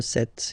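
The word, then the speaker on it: sept: Remember set, it was this P disappear. You don't pronounce it.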